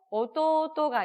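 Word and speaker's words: おとうと: 치치또 오토오토, 토우 같은 경우에는 모음이 오모음과 우모음이 연달아 있기 때문에 길게 장음으로 처리해주면 된다 말씀을 드렸고요.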